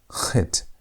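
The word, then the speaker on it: ח: The CH sound, as in the word Bach, the German word Bach. Bach. That Khet. As if you want to say aha, but almost like a hard aha. Aha.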